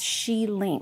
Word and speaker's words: Xilin: So it's pronounced as she ling. Like think of it as sh e the female she and then followed by the word ling.